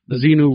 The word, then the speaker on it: Xenu: Xenu rhymes with Netanyahu.